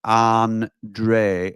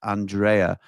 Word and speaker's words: Andre: Andre is pronounced Andre, not Andrea.